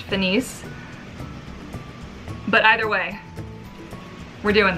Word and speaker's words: FINIS: Mermaid here, finally, with my review of the FINIS Luna, the new Monofin, Mermaid Monofin from FINIS. I say FINIS, I think it's actually pronounced FINIS.